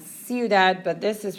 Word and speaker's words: ciudad: They don't really have anything to do with each other, but notice it's C-I-U, which produces that S sound, ciudad, but this is pronounced with like a K sound.